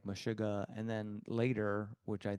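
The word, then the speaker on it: Meshuggah: Uh one of them is called Mashuga. Oh yeah. Yeah. Mashuga. I don't know how to pronounce it in English, but it's Mishuga.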